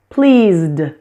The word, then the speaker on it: pleased: Pleased, pleased, pleased.